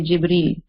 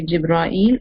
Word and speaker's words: Jibril: So like for me, it's easier on my tongue that I say Jibril. So I would say that. So it's up to you if you want to say Jibra'il or Jibril.